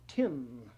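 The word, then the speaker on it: Tisné: Charles Claude I'm told that T-I-S-N-E in French is pronounced tin.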